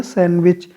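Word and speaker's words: sandwich: ठीक है, डी यहाँ साइलेंट है, डी नहीं बोला जाएगा तो बोला जाएगा सैंडविच।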